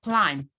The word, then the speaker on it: climb: gave you code like when you have MB at the end of a particular word b is usually silent so you have climb not climbed you have